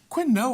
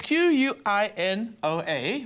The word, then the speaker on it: quinoa: and yes I say quinoa most people say quit no we're okay Noah okay Noah but it's spelt really oddly let me hold it up it's qu I n OA but it's pronounced quinoa it makes no sense